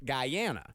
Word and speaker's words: Guyana: and that's what I found out it's actually pronounced Guyana Guyana yeah Guyana the reason why he went